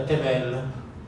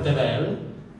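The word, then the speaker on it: תבל: suoni vocalici questa qui Così come è scritta diventa tevel e significa terra mondo Universo se Io trasformo questa e in un'altra e si legge sempre tevel ma questo indica il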